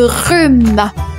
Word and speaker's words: rhume: On enchaîne 47e mot je vous parle de rhume. Le rhume. Un rhume et ça s'écrit r u m e. Le h mué. RH rhume.